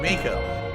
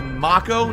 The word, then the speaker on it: Mako: It's Mako, not Mako. Pronounced the same way as the actor that played Uncle Iron in The Last Airbender.